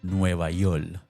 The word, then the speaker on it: Nuevayol: The album opens with That pronunciation nova, it's how Puerto Ricans say New York.